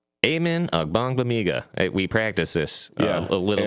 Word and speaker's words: Agbangbemiga: designated for return, and that is linebacker Amen Agbangbemiga. Amen Agbangbemiga. We practiced this a little bit beforehand. And I still butchered his name.